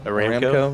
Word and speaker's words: Aramco: ARAMCO, thank you, appreciate it.